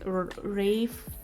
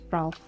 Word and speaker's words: Ralph: Yeah, my pick is Rafe Fiennes, I have learned that his name is pronounced. Look at the way this man's name is spelled and tell me you don't want to call him Ralph.